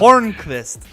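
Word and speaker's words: Hornqvist: Hornquist. Horn. It's like Lundqvist with a horn instead.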